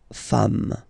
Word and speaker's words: femmes: Femme, you write it like it was at the singular form, and then you just add this S at the end, and as we said, you don't pronounce it, so you get des femmes, okay?